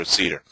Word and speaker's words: CIDR: You'll hear me pronounce it both ways, so it really doesn't matter, CIDR or CIDR.